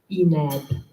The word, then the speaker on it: INEB: International Economy and Business Master Studies for 2 years, and the saying as we pronounce this abbreviation is INEB, okay, with a nice INEB.